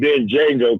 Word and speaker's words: Django: Then Django come out. That's it. Oh, I'm gonna call it like the white man said. The Django. Bam. The D is silent, but hillbilly.